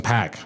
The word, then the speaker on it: Paak: Man, Anderson Paak, Oh, however he's you so say good. it. Yeah, it's That Paak. dude, Paak, Anderson Paak. That No, it dude, is Pack.